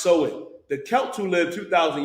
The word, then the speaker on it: Samhain: Now, Halloween's origins date back to the ancient Celtic festival of Samhain, pronounced Samhain.